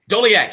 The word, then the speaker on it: Doleac: fact so my guest is and i'm pronouncing the name right doliak yes sir dodie awesome so how you